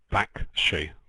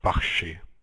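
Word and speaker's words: Bakhshi: point of principle probably you shouldn't say back she maybe kh is more like bakshi ah i have no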